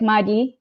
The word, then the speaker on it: maji: Yeah, so it's like Madi. It's like DYI as a pronunciation. So in the end, instead of JI, but it's written as JI.